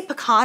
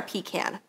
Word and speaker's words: pecan: we have butter pecan do you guys say pecan or pecan because i say pecan and jordan says pecan and i'm like why do you say it like that what's wrong with you